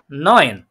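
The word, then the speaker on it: neun: তাহলে এটা হচ্ছে কি নয়েন।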